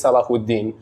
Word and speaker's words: Salahuddin: That's even, Salah Hadin is my full name. Oh. It's pronounced in like Malaysia is Salahuddin.